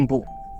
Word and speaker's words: Empu: ini pernah kedengar gua mvu Empu u jadi bacanya Empu Empu tanular Empu tanular